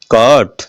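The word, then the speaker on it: caught: कॉट, तो इसमें भी क्या हुआ? जीएच साइलेंट है।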